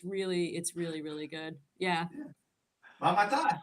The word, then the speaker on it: Mamatas: Mamatas, you pronounced the name correctly.